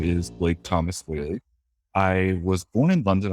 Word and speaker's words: Whealy: Our last name is pronounced Whealy, but spelled W-H-E-A-L-Y. Or T-L-Y a lot of the time, A-L-E-Y, whatever. Pronounced Whealy a lot, Wheatley or Whalen or whatever it may be. But it's actually pronounced Whealy, E-A-L-Y, but it used to be A-L-E-Y, which is where the pronunciation came from.